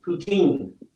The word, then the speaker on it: poutine: Poutine is how you say it.